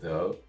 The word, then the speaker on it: though: let's get into pronunciation i know there's a lot of letters in this word uh however it's trap think of the word no it's basically no but instead of the n you're gonna make a th sound